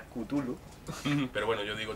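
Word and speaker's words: Cthulhu: cada uno pronuncia como la pronunciación correcta es kutulu pero bueno yo digo chulu pero vamos correcta porque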